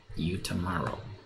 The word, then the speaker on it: Utamaro: from uh utamaro and utamaro so uh utaro is spelled u t a m a r o you tomorrow and uh and the name of the the